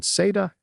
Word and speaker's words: SATA: Under Exam Objective 3.2, the current version of the A plus Core 1 exam focuses specifically on SATA and eSATA.